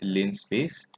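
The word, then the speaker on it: linspace: the line space function i believe it's pronounced lin space so what you need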